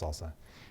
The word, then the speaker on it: SLSA: see that super well salsa is slsa supply chain levels for software artifacts pronounced salsa it's a security framework so